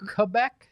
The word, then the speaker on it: Quebec: or written anywhere yeah quebec the correct pronunciation quebec quebec quebec good to know my